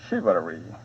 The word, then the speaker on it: chivalry: 여기 as는 뭐뭐과 같이 양태를 나타내는 건데 뭐뭐과 대개 마찬가지로 After the Middle Ages, gunpowder, 화약, ended chivalry, 기사도. 이것은 원래 불어에서 유래해서 ch가 슈로 발음되죠.